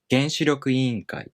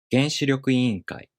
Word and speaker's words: 原子力委員会: This word is made up of 原子力 and 委員会, and it is pronounced 原子力委員会 because the first part becomes unaccented and the following part keeps its original pattern. 原子力委員会.